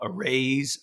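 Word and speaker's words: Araize: we have uh have for a while now arrays fast fun online it's spelled a r a i Ze that it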